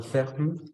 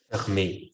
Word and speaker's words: fermé: Lo único, recuerda, cuando una S al final y si tenga acento, sí la vamos a pronunciar. Entonces, no ferme, sino fermé, fermé.